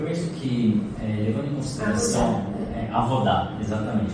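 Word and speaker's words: עבודה: E no e-book de trabalho, cultura e fé, você mencionou um termo hebraico, como é que foi pronunciado? Avodá.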